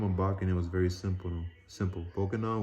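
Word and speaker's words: Bokonon: Bokanon was a pronunciation given the name Johnson in the island's English dialect.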